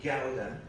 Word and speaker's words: gyaldem: two words, mandem and gyaldem, which are used as plurals of man and go. They both come from Jamaican Creole, these two words, mandem, and also give it the correct Creole pronunciation, gyaldem.